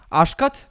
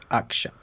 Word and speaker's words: Akshat: Oh, I mispronounced it. It's Akshat.